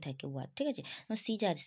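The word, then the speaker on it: Caesar: নিয়ে ঠিক আছে দেখো যদি এ সাইলেন্ট থাকে উচ্চারণ হচ্ছে সিজার এর কোন কোন ছিটাপাই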